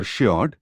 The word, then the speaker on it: Shihar: At Shihar, or Shiod, as it is locally pronounced, 1 mile to the